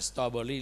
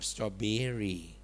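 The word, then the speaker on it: strawberry: นี้ อะไร ลูก สตรอเบอร์รี่ อย่า อ่าน สตรอเบอร์รี่ ลูก อ่าน สตอเบอรี่ ช็อกโกแลต พ่อ ไม่ ใช่ ลูก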